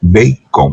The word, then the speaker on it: bacon: avial como suela vacon pero como es inglés Cada idioma tiene su propia morfología su propia gramática su propia dicción se pronuncia bacon porque usted sabe que la e dependiendo la regla ortográfica de la gramática inglesa suena como I bacon escribe vac con Francisco